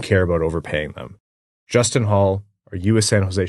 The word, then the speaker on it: Holl: No, because that's not how his name's pronounced. I know it's Holl, but you got to run with the jokes when they present themselves, Ryan.